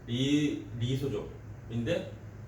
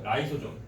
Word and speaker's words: 라이소좀: 그거 약간 좀 새로 나오는 건데 이름이 뭐냐면 이제 리소좀인데 약간 발음이 또 바뀌었어. 이게 발음이. 그래서 라이소좀. 아니 라이소좀. 이거 맞다.